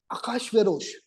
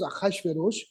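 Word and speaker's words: אחשורוש: Achashverosh, it's written as Ahasuerus in the Bible, but it's pronounced as Achashverosh, is the grandson of King Kurush, Cyrus.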